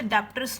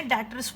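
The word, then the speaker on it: debtors: डेटर्स क्या होते हैं, इसमें डेटर्स में बी साइलेंट होता है, इसे डेप्टर्स नहीं बोलना, इसे हमने डेटर्स बोलना है।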